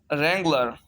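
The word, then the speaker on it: wrangler: Silent words with W, रेंगलर, रेंगलर mean झगड़ा करने वाला।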